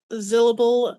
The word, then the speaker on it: Zyllable: That's Zyllable. It's like syllable, but with a Z.